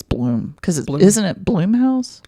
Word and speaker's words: Blum: Blum I think it's Bloom because isn't it Bloom house that's what I thought okay it's spelled b-l-u-m like Plum but Blum Blum blouse uh merging